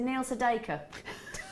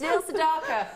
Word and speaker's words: Neil Sedaka: doesn't know who he is cuz he said Neil Saker it's Neil Sedaka that's how you pronounce his name lovely are you thinking s